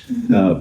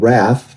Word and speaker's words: Ralph: Ralph, pronounced in England Raff, but I say Ralph.